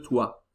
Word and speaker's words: toit: Le grenier est sous le toit. O sótão está por baixo do telhado. Ok? Le toit. Cuidado que toit tem este T que não se pronuncia.